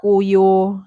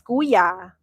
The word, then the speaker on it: kuya: It's not kuyo, John. It's kuya.